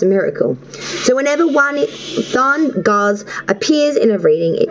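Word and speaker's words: Dagaz: The final Ruin card for Sagittarius is October is pronounced Thargoz, meaning dawn or daylight.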